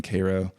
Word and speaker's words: Cairo: me when I visited Koo Illinois which is the southernmost town in Illinois you said it right that's how they say it there right yeah it's spelled like Cairo like CYO Egypt but um they very